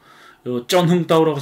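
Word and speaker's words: Trần Hưng Đạo: 쩐흥따오라고 쓴 겁니다. 트란이라고 읽으면 안 됩니다. 베트남식 알파벳은 이게 쩐입니다. 쩐흥따오.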